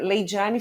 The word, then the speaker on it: Laydyane: É, então quem quiser me encontrar, né, meu Instagram é Leidiane.